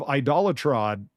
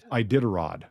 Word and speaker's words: Iditarod: Grandson of Idolatrod. How do you say that? The dog thing? Iditarod? I don't even know what it means. Iditarod.